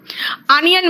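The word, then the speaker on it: onion: Spelling नहीं पकड़ पाओगे, क्योंकि ओ का प्रोनाउंसिएशन ऑरेंज होता है तो ओ होता है, अनियन में ओ का प्रोनाउंसिएशन आ निकल जाता है, एंड टूम में ओ का प्रोनाउंसिएशन ऊ निकलता जाता।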